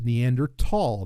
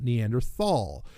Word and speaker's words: Neanderthal: Just like I made the correction for most people that, look, it's Neanderthal, not Neanderthal. Generally I don't care how people mispronounce things.